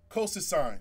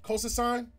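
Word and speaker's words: colchicine: l c h i c i n e coas sign coas sign all right so that is a over over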